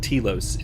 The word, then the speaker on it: Telos: tilos uh or talos it's pronounced telos in the game but uh it is